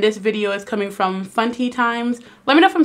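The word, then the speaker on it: Funtie Times: And this video is coming from Funty Times. Let me know if I'm saying that right. It's spelled like auntie but fun, so I'm like Funty Times.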